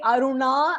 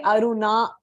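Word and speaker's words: aruṇa: your tongue so Aruna when you say Aruna and you roll your tongue you know you're pronouncing it correctly if you say Aruna then your tongue is not getting rolled so that is wrong it comes with practice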